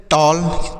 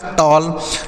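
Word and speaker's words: tall: टी A double L टॉल टी A double L टॉल हो गया ए के बाद डबल एल है तो ऐसा उच्चारण किया जाएगा टॉल डब्लू A double L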